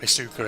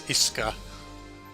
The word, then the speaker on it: Isuka: Also, it's not Isuka, it's Iska. That's how you pronounce it. You don't put so much emphasis on the U.